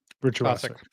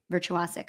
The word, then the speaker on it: virtuosic: How do you say that word? Virtuic. Virtuosic. I said it right.